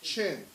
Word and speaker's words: Qin: Shia, Xia, Shang, Shang, Zhao, Zhou, Qin, Qin, is pronounced is Qin, Han, Han dynasty.